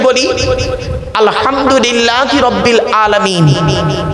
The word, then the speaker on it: আলহামদুলিল্লাহ: আলহামদুলিল্লাহি রাব্বিল আলামিন। আলহামদুলিল্লাহি রাব্বিল আলামিন। এই গলার ভেতর থেকে এটা উচ্চারণ করবেন, আলহামদুলিল্লাহ।